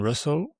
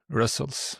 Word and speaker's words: Rustls: And so you started working on Russell. That's how you pronounce this, right? Because I was Russell's. Yeah. I'm going to try to do it correctly from now on.